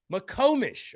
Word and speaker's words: McComish: says, yeah, my name makes an O sound.